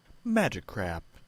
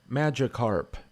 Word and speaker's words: Magikarp: i've never had to say it let's see magic crap no no um dumbass well that's not real how to pronounce magikarp magikarp magikarp magikarp magikarp magikarp there you go